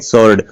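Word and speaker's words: sword: हैं आंसर कहते हैं यह देखिएगा सर्ड तो डब्लू का उच्चारण नहीं हुआ सर्ड नहीं बोलते इसको बोलते क्या है सर्ड डब्लू इसमें साइलेंट है और इसमें भी साइलेंट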